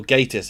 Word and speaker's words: Gatiss: This episode was written by Mark Gatiss, the first, or Gatiss as apparently it's meant to be pronounced, the first of the